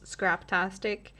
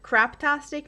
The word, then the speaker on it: Scraptastic: I'd say there's a lot of people that don't know how to pronounce scraptastic and I get it just by the first look of it if you read it fast or I've heard crapastic more than once.